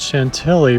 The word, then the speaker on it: Chantilly: I would also like to apologize for not pronouncing the word Chantilly properly in France, which would be Chantilly.